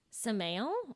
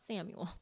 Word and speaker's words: Samael: rules over the abuse samael or samael which means the venom of god i looked it up out of all of the youtube pronunciation clips i watched it was not samuel okay well that's good